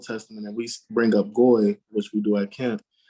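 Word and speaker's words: גוי: The Jewish people, they don't say Gar, they say Goy. We say Goyim.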